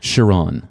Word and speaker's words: Cheron: And I should confirm the pronunciation of your first name. Cheron. Cheron.